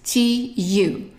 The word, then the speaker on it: tu: So the first one is tu. And a U in French is pronounced u.